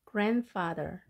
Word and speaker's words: grandfather: grandfather이지만 D 발음을 생략하고 grandfather.